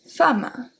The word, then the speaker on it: femme: And then we have an exception when E is going to be pronounced as a A, such as femme, femme, okay?